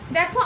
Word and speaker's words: the: বলে রাখি, সেটা হচ্ছে দ্য এর প্রোনাউন্সিয়েশনের ব্যাপারে একটু বলে দিচ্ছি। আচ্ছা, দ্য নর্মালি আমরা THE কে আমরা নর্মালি দ্য বলি, ওকে? ইন all cases we ইউজ দ্য, with দ্য exception হলো কোনো ভাওয়েলের আগে যদি দ্য শব্দটা থাকে, দ্য আর্টিকেলটা থাকে, তাহলে আমরা সেটাকে বলি দি, ওকে? আমরা দ্যকে ডাবল ই দিয়ে প্রোনাউন্স করি যখন when the is placed before a vowel sounded word।